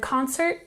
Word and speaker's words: concert: sharp and concert we emphasize the first syllable concert concert 35 set